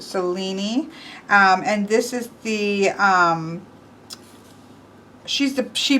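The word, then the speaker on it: Selene: Here we have Cellini, which I would have thought was Celine, but he pronounced it Cellini.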